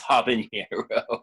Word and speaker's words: habanero: Yeah, and then we didn't know how we were going to like the habanero or hibiscus, however you like to pronounce. It's habanero.